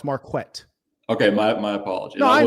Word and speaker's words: Marquett: My name is pronounced Marquette.